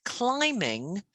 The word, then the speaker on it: climbing: it is now remember with climbing we don't say the be okay oh gaming no say b b that's right yes it is yeah the bee is silent in a lot of words like lamb and comb yeah um and this